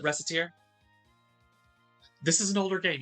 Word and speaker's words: Recettear: First game we're going to look at today is Recettear, or Recettear. I've heard it pronounced both ways. I pronounce it Recettear.